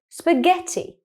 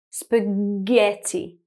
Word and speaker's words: spaghetti: The second word is spaghetti. Now, the GH is in the middle of the word, and what sound can you hear? Again, you can hear that very hard G sound, spaghetti.